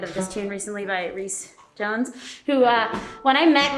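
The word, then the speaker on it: Rhys: They were like, Reese told me that when you met him, you were like, are you Rice Jones? His name is spelled R-H-Y-S. And I was like, are you Rice Jones?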